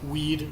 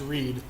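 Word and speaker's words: Rwead: people say it like we'd which is read with a speech impediment or weed without VR but either way it's just pronounced read and what I did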